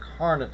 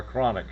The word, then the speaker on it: Carnot: The the one thing I want to correct is it's called the carnet cycle. C A R N O T. I believe that's how it's spelled, not uh chronic cycle.